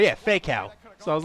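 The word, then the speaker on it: Faykow: was Atao because his brother is Fakeow, and it's spelled F-A-Y-K-O-W. Oh, yeah. I was like, yeah, Fakeow.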